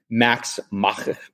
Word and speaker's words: Max Meschler: And Max Meschler, that's how it's said correctly.